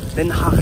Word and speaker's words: Den Haag: Den Haag Central, comme ça que ça se prononce je crois.